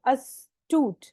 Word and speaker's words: astute: अस्तूट, pronunciation पे भी ध्यान दो. अस्तूट, अस बोलना है पहले, अस्तूट.